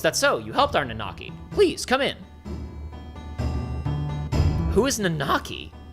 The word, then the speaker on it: Nanaki: You helped our Nanaki. Please come in. Who is Nanaki? Nanaki is Nanaki. That's his name. It's pronounced Nanaki.